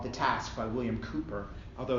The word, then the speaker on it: Cowper: So he stole this from a poem called The Task by William Cowper, although it's spelled Cowper, 18th century poet.